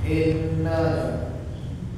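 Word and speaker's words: إنّا: huruf alif huruf alif huruf alif kasrah kita baca dengan i ya I jangan e Inna Inna tapi Inna ya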